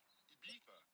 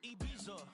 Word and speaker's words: Ibiza: Ibiza. Yeah, it's pronounced Ibiza, actually. What's the difference, man? Ibiza, Ibiza, you won't see me in neither.